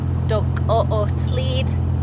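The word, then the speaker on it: Dook'o'oosłííd: In Navajo, it's Dok-o-o-sleed. It's hard for me to pronounce. It's a hard word. Can you say it? No. He doesn't want to try. But yeah, I'm pretty sure that's how you say it.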